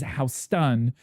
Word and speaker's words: Houston: Both regret the New York street is House Stun and the Texas is Houston.